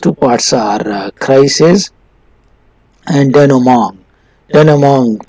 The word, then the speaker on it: denouement: The next two parts are crisis and denouement. Denouement pronounced, it is a French word and its pronunciation is a little difficult.